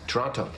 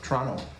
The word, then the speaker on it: Toronto: them were we born toronto toronto canadians don't pronounce the t but the film downplayed